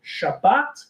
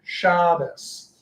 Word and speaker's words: Shabbos: So that's why instead of Shabbat, which is modern Hebrew, you get Shabbos. So different emphasis on the words.